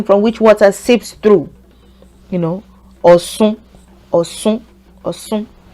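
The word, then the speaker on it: Ọ̀ṣun: But people say oshun, oshun as well. So let's use that for the example sentence. Shun is the same meaning, but I find that people that are really from Oshogbo don't say Osun. They don't say Oshun. They tend to say Osh. They don't say in general, they just don't say the she, this alphabet. They use C instead.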